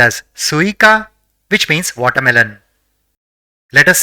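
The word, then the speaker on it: すいか: the third is Ka so it will be pronounced as suika which means watermelon let us say the fourth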